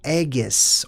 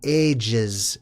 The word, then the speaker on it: aegis: or the ages, and there's different ways to pronounce that word, okay? I like saying it my way. I'm going to call it the aegis because it sounds like eggs, which is where I believe we actually get the name for that from, okay?